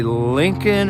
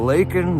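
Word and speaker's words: Laken: is was I mistaken there did he say Lincoln or something instead of linol Riley he said Lincoln Riley or something and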